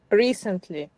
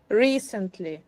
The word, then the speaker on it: recently: So, can you now give me a three-syllable word with the accent on the first syllable? Recently. Very good. One more time. Recently.